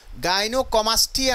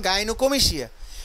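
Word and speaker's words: gynecomastia: তো যা হোক, গাইনোকোমিশিয়া, এখানে গাইনোকোমিশিয়া কিন্তু গাইনোকমাস্টিয়া না, এটা উচ্চারণ গাইনোকোমিশিয়া।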